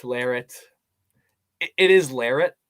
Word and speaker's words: Larratt: up all the time some people are like lorat larit it is lyric it's not lorat but it's some people pronounce it different at the end of the